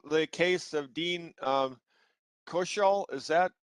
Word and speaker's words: Koechel: Okay, I call the case of Dean Koechel. Is that right? You gave me education regarding of how to say it before, and is it Koechel? Koechel, Your Honor. Koechel. I say accent on the second syllable.